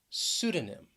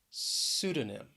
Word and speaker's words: pseudonym: pneumonia then we have pseudonym pseudonym the stress is on the first syllable this time pseudonym and sometimes yeah if